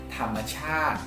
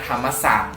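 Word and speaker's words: ธรรมชาติ: Dan yang terakhir bacanya thamachat. Thamachat. Beda ya, bukan thamasat.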